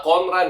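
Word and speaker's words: 混乱: Cara bacanya itu adalah konran ya.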